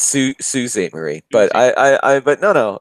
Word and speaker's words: Sault Ste. Marie: It's Sault Ste. Marie. But but no. It's great if you're pronouncing it phonetically. That's awesome. It's Sault Street Marie.